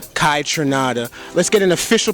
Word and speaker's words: Kaytranada: name in different ways K trinada Kai trinada let's get an official pronunciation from the man the proper way to say it k trinada k from Canada yeah from Canada so